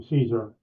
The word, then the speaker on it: Cesar: Well, Cesar Chavez, and actually, in his mother and father called him Caesar, and everybody called him Caesar, even though it's spelled Cesar and more melodious Spanish pronunciation. But he was known as Caesar.